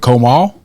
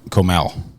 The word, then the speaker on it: Comal: close enough close enough is it Comal yes okay Comal County because I used to say Comal that's not how you pronounce it either way well